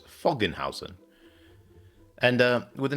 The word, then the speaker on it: Föggenhausen: to be playing I'm going to pronounce this as fogan Housen and uh with a